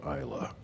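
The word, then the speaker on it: Islay: I' I been to a very nice island in Scotland called Isa, but they have a Y on the end, so they're obviously wrong.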